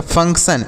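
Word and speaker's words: function: देखिए अगला क्या है एफ यू एन सी टी आई ओ एन तो एफ से फ हो गया यू का उच्चारण अ के रूप में एन से आधा न और सी से लिखेंगे क क्या लिखेंगे आधा क और टी आई ओ एन को सन पढ़ेंगे तो यह होगा फंक्शन एफ य एन सी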